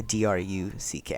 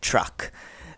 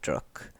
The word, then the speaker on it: Druck: A DRUCK. I don't actually know how to pronounce it properly, but I'm pretty sure it's not pronounced like truck.